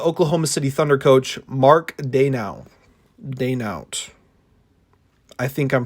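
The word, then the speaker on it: Daigneault: Second option was the Oklahoma City Thunder coach, Mark Daynaut. I think I'm pronouncing it right. I don't believe you pronounced the G.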